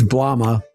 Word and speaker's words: Blomma: Dude, first off, Blooma has two Os. So, uh I'm sorry. It's It's It's Blomma.